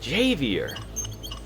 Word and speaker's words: Javier: Yeah, they knew that what Xavier was into. No, wait, I said it with like an X. Javier. Javier. There we go. That sounds about right. They knew what Javier was into.